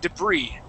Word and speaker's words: debris: uh the word is debris here it is okay now the S is going to be silent at the end the accent is on the eye okay the word is debris okay debris now uh